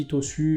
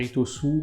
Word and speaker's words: Itosu: Alors je dis Itosu, mais on devrait dire Itosu. Bon, j'ai pas la prononciation japonaise parfaite, c'est pas très grave.